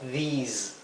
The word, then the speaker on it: these: Aquí lo he transcrito con doble I, a these, porque quiero que se pronuncie como una I larga, these, ¿ok? Mientras que este es una I corta, this.